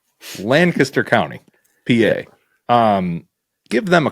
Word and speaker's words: Lancaster: I am not pronouncing this right. I have been pronouncing it Lanchester County. That is not right. That's right. There's not an H. Lancaster County, PA.